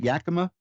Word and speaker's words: Yakima: Hi, did I pronounce that right, Yakima?